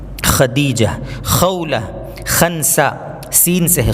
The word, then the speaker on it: خدیجہ: عین سے ہے۔ خالدہ، خدیجہ، بہت سے لوگ اس کو ختیجہ بولتے ہیں، تا سے، تا نہیں بلکہ یہاں پر دال آئے گا، یہ بہت بڑی غلطی ہے ہمارے یہاں تلفظ کی۔ خدیجہ۔ خولہ، خنسہ، سین سے